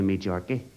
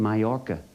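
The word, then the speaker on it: Majorca: supposed to go to me J I said you mean myor the J is silent he said is it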